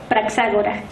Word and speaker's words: Praxágora: Praxágora, que es la ateniense, se deletrea P-R-A-X, acento en la A, siguiente, G-O-R-A, Praxágora.